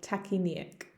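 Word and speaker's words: tachypnoeic: appears to be tachyneic there's a lot of letters in that word in english especially in the british spelling which i used um but the pronunciation is much more straightforward tachy nick he's showing short shallow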